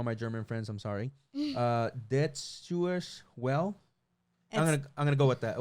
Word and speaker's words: Deutsche Welle: Deutsche Welle. I'm gonna go with that. Well, you take German, so you tell me. It's Deutsche Welle.